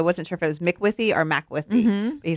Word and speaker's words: Macwithey: Yes, Macwithey.